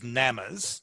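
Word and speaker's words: gnammas: And you've studied as part of your work is NAMAs. That's spelled G-N-A-M-M-A-S.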